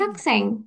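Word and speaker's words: 학생: Hakseng. Oke, Hakseng. hakseng. Jangan lagi ada yang bilang sayang ya. Ini bacanya meskipun tulisan romanisasinya AE tapi E ya. Hakseng.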